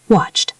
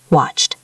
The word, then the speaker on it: watched: If the word ends in a voiceless sound like P, K, F, S, CH, or SH, we pronounce ed as a T sound.